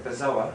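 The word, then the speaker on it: bezoar: had this thing called a bizor no sorry a bizoa it's it's pronounced um b e z o a r I think that's how it's spelled but um that's a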